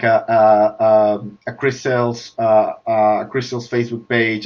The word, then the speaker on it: Cris Tales: uh particularly is that chris sales it's spelled chris c r i s space t e t a l yes so kind of cristalis in spanish uh but separated um so it's it's of